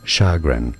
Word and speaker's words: chagrin: apparently suen sh sh it's French and c not a CH sound and yes it's a sh sound not a CH is a stress on the F syllable ination so in British English it is said as shagan shagon shagon sh that's one part shagrin in British English now in American English it is said the other way around as in shagin shagin with a stress on the second syllable and that's because in